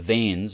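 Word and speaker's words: vanes: operating system and uh the veins v-a-n-e-s which are arvo's kernel modules so i'm really going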